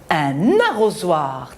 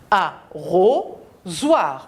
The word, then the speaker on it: arrosoir: Arrosoir. On a la voyelle O. Entre les deux, on a la consonne S qui se prononce Z.